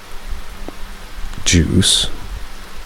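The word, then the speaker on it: Guise: My great uncle Juice spelled with a g u i s e but pronounced like juice also lived there and he was really old, about 80 probably.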